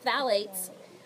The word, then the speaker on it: phthalates: in these fragrances everyone repeat after me Val eight Bally's so it's spelled ph th ala tes and phalates are found in pretty